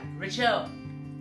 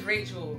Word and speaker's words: Rachel: where I'm from and because they kill Rachel it's like Rael relle I'm like my name is Rachel my name is what